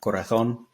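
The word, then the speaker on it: corazón: with a th sound Corazon um the other thing is that the accent is on the O Okay so proper Spanish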